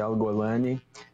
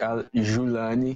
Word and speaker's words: al-Julani: A gente costuma falar em português Colinas de Golã, então poderia ser Al-Golani, mas esse seria uma pronúncia mais egípcia. Na pronúncia síria poderia ser Al-Julani, que tem sido mais comum.